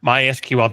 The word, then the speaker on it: MySQL: at Oracle called it my SQL. I discovered when I started working at Oracle that it's actually supposed to be pronounced MySQL.